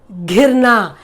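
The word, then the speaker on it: घिरना: Now I've given you a word, ghirna. Ghirna. Remember, the way we pronounce the words totally change. Now if you say girna, girna is to fall, but this is ghirna.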